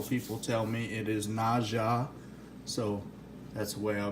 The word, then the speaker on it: Naja: I thought maybe the J would be silent. Dumb on my part. I've been corrected. I've had several people tell me it is Naja, so that's the way I'll be calling it throughout this video.